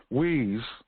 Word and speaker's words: Hui: of your time today wheeze and that's spelled h-u-i-h-u-r pronounced way actually not